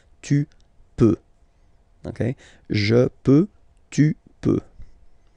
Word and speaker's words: peux: Then tu peux, same pronunciation and same spelling or writing. Okay, P-E-U-X. Okay, don't pronounce the final X. Tu peux.